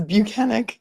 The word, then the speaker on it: Buchanan: Okay, well, we've learned how to pronounce his name. It's Buchanan.